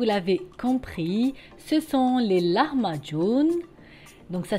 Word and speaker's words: lahmacun: compris ce sont les larmes à john donc ça s'écrit elle a à h m à c ur haine ça se prononce john à la fin ce sont des pizza